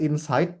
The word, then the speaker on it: inside: Then it's not inside but inside.